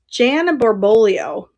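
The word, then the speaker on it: Jan Barboglio: Jan Borbolio is how you say her name.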